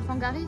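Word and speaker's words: Whangārei: dans quel épisode, mais qui se prononce comme le F au final. C'était pas quand on était à Fangari?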